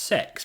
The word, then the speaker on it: CeX: see where i'm at cex i think is pronounced sex but the more i